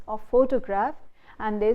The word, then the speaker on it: photograph: Photograph. Where do we put the stress? We put the stress on photo.